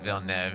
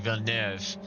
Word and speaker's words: Villeneuve: It's definitely not Villeneuve. It's like Villeneuve. Like you gotta have an R in there.